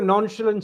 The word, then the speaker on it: nonchalant: It may not be casual but he's got a nonchalant style.